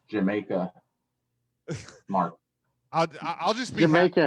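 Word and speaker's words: D'yer Mak'er: think the song is actually pronounced Jamaica.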